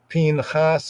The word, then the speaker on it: Pinchas: So Judaically wise, many would pronounce his name as Phinhas or Phinhas.